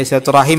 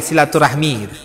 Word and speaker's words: silaturahim: silaturahim silaturahmi itu sama silaturahmi itu bahasa kita ya silaturahmi bahasa Arab Arabnya silatul silaturahim Ya itu sudah Bahasa Arab juga Pak silaturahmi bahasa Arab juga cumi pengucapannya kurang pas tapi karena itu pengucapan kita sehari-hari tidak masalah ya kita ucapkan silaturahmi tidak tidak masalah Adapun kepada teman-teman kerabat